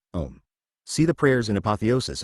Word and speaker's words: Om: years C above asterisk since in Sanskrit a and ukes in O the sacred syllable is pronounced and often written om see the prayers in